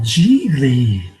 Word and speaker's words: Gigli: be another movie review this one's called GV it rhymes with really 2003 I had to